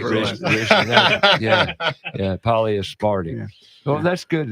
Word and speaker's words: polyaspartic: And the polyaspartic doesn't do that.